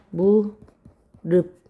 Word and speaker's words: 무릎: 무릎 자 무릎은 발음을 무릅 비읍으로 바꿔요.